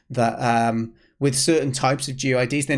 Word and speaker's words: GUID: Now, fortunately, there's a thing called a GUID, or GUID, it's spelled.